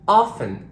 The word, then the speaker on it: often: I need a whistle and ft n like in often and soften it's just you're here